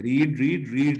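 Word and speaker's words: read: जब लिखा जाता है रीड की फॉर्म्स को तो स्पेलिंग एक ही है, रीड रीड रीड ही, लेकिन पढ़ा जाता है रीड रेड रेड, रीड रेड रेड, well रेड।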